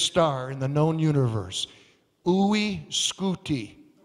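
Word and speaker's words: UY Scuti: got a crazy name you'll love you'll love pronouncing the name of the biggest star in the known universe oui scooti say it with me ooi scooty you say how big is is ooy scooty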